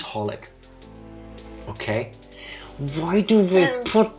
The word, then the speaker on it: xxxHOLiC: knew what it was I always read it as sexholic oh it's just holic okay why do they